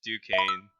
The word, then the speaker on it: Duquesne: Oh, it's Duquesne.